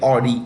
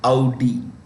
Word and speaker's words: Audi: It's not, don't say Audi, say Audi. Okay, Audi, which itself is owned by Volkswagen.